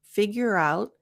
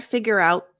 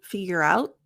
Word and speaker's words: figure out: peel back the onion and figure out route figure out notice the T it's not figure out T my tongue goes into the T position figure out but there's no air it's really important because